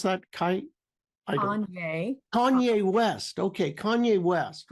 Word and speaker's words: Kanye: Now, even this morning, I've never worked with him, but if anybody's listening knows him, Cayenne West. Did I pronounce that? Kanye West.